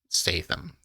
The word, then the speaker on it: Statham: Statham. Is that how you pronounce Statham?